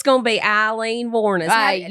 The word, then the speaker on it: Wuornos: So I am doing Aileen Wuornos. And so you're going to get some... I think you'll get my personality through this story. Now, I'll say, I've always heard the pronunciation Aileen Wuornos. Is it Wuornos?